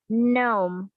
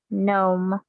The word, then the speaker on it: gnome: elves fairies and gnomes gnome okay no could you repeat that please sure g n o yes the g is silent here yeah okay i told